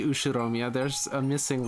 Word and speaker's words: Ushiromiya: while everyone in the usharomia family ushiomia oh did we add an r in there it should be ushiromiya there's a missing letter